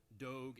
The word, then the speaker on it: Doge: known as do now some people are pronouncing it Doge because of the you know old school clerical implications I prefer dog but in late 2013